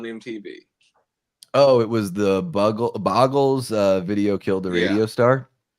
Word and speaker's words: Buggles: Oh, it was the Boggles video killed the radio star. Yeah. And do you know Boggles or Buggles? Buggles? I always pronounce it Buggles, something like that.